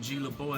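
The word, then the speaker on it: GlaBeaud: It's G-L-A capital B-E-A-U-D. It's spelled LeBeau. The D is silent though.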